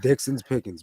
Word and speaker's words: Dixon's Pickings: name i was like it rhymes it's dixon's pickings but everybody like throws the actual ixons in the pickings so it sounds weird sometimes but yeah it's just dixon's pickings man simple yeah yeah